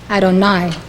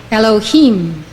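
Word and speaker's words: יהוה: Usually Yud, He, Vav, He is pronounced Adonai, meaning Lord. When associated with Binah, it is pronounced Elohim, Elohim.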